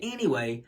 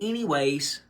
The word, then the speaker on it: anyway: when people say anyway they'll say anyways with an S and they'll add an S to it there's no s to anyway when you say anyway some people will say anyways it's not it doesn't have an s on it there's so many more